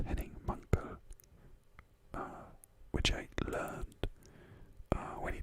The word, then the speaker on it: Henning Mankell: was younger, and I always thought it was Henning Mankell, but it's Henning Mankell, which I learned when he died, unfortunately, because people were pronouncing his name and I was pronouncing it wrong all the time.